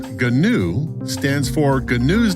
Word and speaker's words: GNU: GNU, pronounced GNU, stands for GNU's Not Unix.